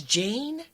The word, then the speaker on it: Jeyne: It's Jane? Mm-hmm. I think because it's spelled Jeyne, it's fucking me up. See, to me that sounds like that's spelled the way that it sounds.